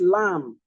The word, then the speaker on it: lamb: begins it theod terod this lamb lamb not lamb the B silent this is right the